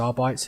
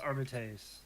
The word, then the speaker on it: Arbites: but I believe the correct pronunciation Is Arbites, yeah.